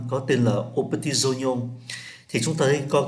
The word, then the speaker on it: Oignon: Để chúng ta để ý tới cái cách đọc OVE, là bình thường phát âm là oa, OVE là oa, nhưng ở đây phát âm là o, đây là trường hợp đặc biệt.